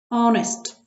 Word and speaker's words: honest: Не вимовляється звук Х На початку слова винятки. Our. Honest. Honor.